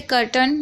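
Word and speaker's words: curtain: ठीक है, इसी तरीके से कर्टन, यहाँ पर भी आप देख रहे हैं यहाँ पर CUR है, जिसमें से यू को आ पढ़ा जा रहा है और यहाँ पर टी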